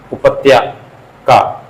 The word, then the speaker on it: उपत्यका: बाकी ये पहाड़ के नीचे की भूमि, उत्पक क्या बोलते हैं, उपत्या का, और प्रोनाउंसिएशन देख लीजिए, उपत्यका।